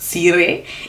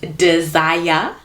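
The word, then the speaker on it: Dzire: At number 7, we have the Suzuki, and let me tell you how you pronounce it. It is not Sire, it is Desire.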